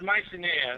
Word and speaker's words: Mycenae: Yeah, it's pronounced Mycenae.